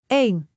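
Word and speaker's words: één: Eén ... just one syllable. Eén.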